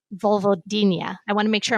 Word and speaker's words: vulvodynia: that you thought you had a condition called Vulvodynia. I want to make sure I'm pronouncing that correctly.